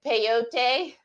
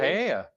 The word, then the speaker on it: paella: Lisa said, peyote. Tell her what you were trying to say. Paella.